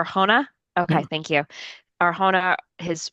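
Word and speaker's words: Arjona: He's played by Kyle Marvin, who I'm not familiar with, and him and his wife, Adria, how do you pronounce her last name? Arona. Arona.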